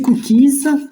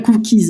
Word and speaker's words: cookies: Donc, c'est cookies. Alors, ça se prononce pas cookie, hein. J'aime pas. C'est bien cookies, hein. Nous, le S, on le prononce.